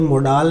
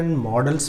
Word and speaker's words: modal: सबसे पहले तो, इसका उच्चारण 'मादल' नहीं होता है। मैंने कई लोगों को इसे ' माल' उच्चारित करते देखा है। 'मादल' नहीं, बल्कि 'मोडल'।